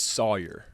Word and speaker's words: Sawyer: say Sawyer mhm so what is the correct pronunciation it is it's Sawyer Sawyer Sawyer but a lot of people especially from the Northeast will say Sawyer I don't correct it